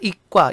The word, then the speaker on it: 이과: 고등학교에 문과, 이과 있잖아요. 우리 문과, 이과라고 하지 않고 문과, 이과. 된소리로 발음합니다.